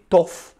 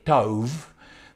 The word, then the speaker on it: tov: sê soos jy wil, party mense sê tof, ander sê tov. Ek het eendag met 'n man in Israel gepraat wat vir my gesê het, die korrekte Hebreëse uitspraak is tof, T-O-V.